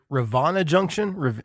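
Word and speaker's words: Rivanna Junction: um so you mentioned your first record is Ravana Junction how do you say that we say Ravana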